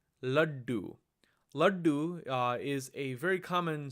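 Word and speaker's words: लड्डू: Again, it's difficult to pronounce this letter as is, but you'll hear it clearly in words like laddu, laddu.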